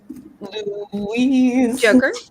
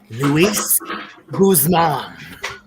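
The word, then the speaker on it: Luis Guzmán: Louise. Joker, say it correctly. Luis Guzman. That's A beloved American actor who apparently someone, Ursula, can't get the name right.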